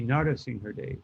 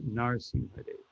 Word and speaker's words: Narasimhadev: You say all the syllables, although the last A is very faint, but it would be Narasimhadev, not Narsimhadev.